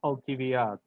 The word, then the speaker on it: Alcibiades: And I think the modern Greek is different from the ancient Greek. So for example, Alcibiades, Yeah. they pronounce Alcibiades. Exactly. That's how in Russian it would be pronounced Alkiviad.